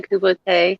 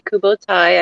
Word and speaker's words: kubotai: Yes, the Kubote, as I pronounce them. Some people say Kubotai, I say Kubote.